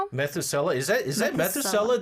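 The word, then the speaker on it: Methuselah: And two, I I don't know how to pronounce this. Methsula syndrome. Methusela.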